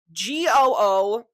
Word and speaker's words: gouache: So I've just looked up how to pronounce gouache paint on Google, and as you can see here, it sounds like Gooaash.